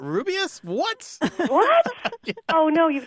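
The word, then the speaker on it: Rubeus: books on tape and Jim Dale reading he says ruas Hagrid and a lot of people are like it's not rubus what what oh no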